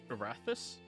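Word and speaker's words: Erathis: Barthus.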